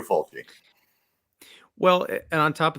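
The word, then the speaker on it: Fulci: he was like well usually you have the double c in italian to make it a cha and i said oh my god have we been saying lucio folgi's name wrong all this time but then i went and researched it and like no no we have not it is lucio faulty well and on top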